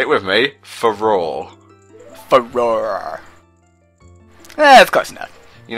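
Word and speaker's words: Farore: Oh hey, it's a spell I can't pronounce the name. It's the Ferrero Rocher Wind. The Ferrero Say it with me. Faror.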